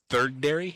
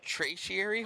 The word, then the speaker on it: tertiary: The third dairy? No, it's tertiary.